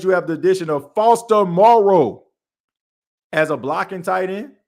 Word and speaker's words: Foster Moreau: Foster Moreau. I've been saying his name wrong too.